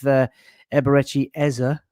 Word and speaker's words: Eberechi Eze: It all started off with Eberretti Eza is the correct pronunciation of his name being unveiled on the